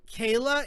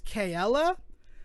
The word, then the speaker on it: Kayla: Is not Kayla, it's Kayla.